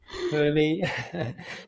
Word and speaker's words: HRMI: founding um her her how do you pronounce her that's just hrmi human right yeah it's it's easier than saying the human rights measurement initiative hery sounds like a goland something or person that hery and